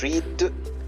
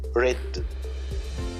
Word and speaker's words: read: are e a d but when I pronounce the present read but the past read so again in the writing they are the same but in the pronunciation they are different read present read past